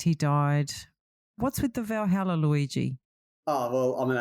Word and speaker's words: Valhalla: Valhalla.